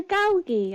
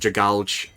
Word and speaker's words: Dragalge: Yeah, Dragalge. I like that one. That's how you're supposed to pronounce it, isn't it? Oh god. Oh no. I've been calling it I've been calling it Dragalge this whole time.